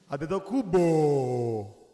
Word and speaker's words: Antetokounmpo: Antetokounmpo. That's the right way to say our last name, by the way.